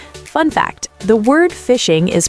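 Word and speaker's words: phishing: Fun fact, the word fishing is pronounced like fishing because the scammer is fishing for your passwords and information using a hook, the fake email.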